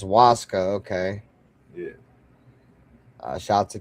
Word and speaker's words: ayahuasca: So the ayahuasca is pronounced Waska.